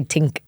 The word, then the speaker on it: think: I love when you say tink. You say it like that? Yeah, we don't pronounce it. I think I'm going to show up tonight at the bar. Yeah. There's no H's. We don't pronounce the H. Yeah. H is silent in pretty much every word that Irish people say.